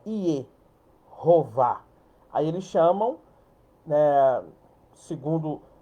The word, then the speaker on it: Jeová: Então, olha para você ver, Jeová com a pronúncia aqui, ó, iová.